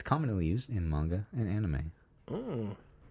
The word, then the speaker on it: anime: It's commonly used in manga and anime. Oh. I think it's manga and anime. Anime. That's how you pronounce it.